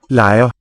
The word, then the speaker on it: leger: Børnene leger. There's a softening of a g for you.